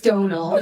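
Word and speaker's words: Domhnall: That is how you say your name. It's Donald.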